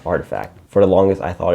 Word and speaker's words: RTFKT: brand known as artifact rtfkt pronounced as artifact for the longest I